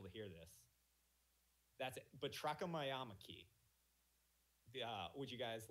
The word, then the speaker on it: batrachomyomachy: Okay, so it's spelled BATRACHOMYOMACHY, and I don't know if they'll be able to hear this. That's it. Batrachomyomachy.